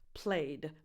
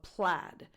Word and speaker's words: plaid: And it's also good to note that you don't pronounce this played, but plaid.